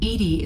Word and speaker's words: EDI: the medical bay why are you named edie edie is the phonetic pronunciation of edi that is an acronym for